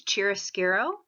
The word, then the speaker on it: chiaroscuro: First is chiaroscuro. That's how that's pronounced.